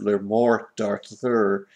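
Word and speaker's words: Le Morte d'Arthur: I think it's pronounced something close to "Le Mort d'Arthur," and which means the death of Arthur. There isn't an accent on the last E. It's silent, I think.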